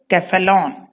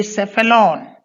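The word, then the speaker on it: cephalon: A L O N originally it was K sounding Keflalon because Greek has no C at all only K that is kapa and Latin has no soft C is always hard C is always sounded as K. So it is kefalon but in English C comes before E. So according to English rules it should be sephalon.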